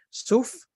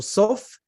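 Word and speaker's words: סוף: Suf o Sof, Suf puede significar juncos, ¿vale? Pero en la manera como se escribe en hebreo también se puede pronunciar Sof, es que no sabemos,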